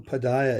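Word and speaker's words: pādāya: that the word padaya, Nama Om Vishnu Padaya, is also very often mispronounced. Yeah, it's Padaya. I think, Mhm. yeah, yes. So, Nama Om Vishnu Padaya. So, yeah, devotees skip the first pa, which is long.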